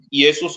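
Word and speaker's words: Ἰησοῦς: vamos a usar no no digamos que Jesús sino yesus creo que usted sabe eso en el griego yesus O yeshua sí en el hebreo yeshua es correcto cuando Pedro dijo allí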